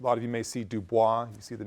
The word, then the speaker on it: Du Bois: Du Bois, someone who, a lot of you may see Dubois, you see the name, it's Du Bois, that's the way his family pronounced it.